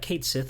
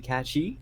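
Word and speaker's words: Cait Sith: It's supposed to be Katchi. Catchy. Yeah, cuz it's like Irish or something like that.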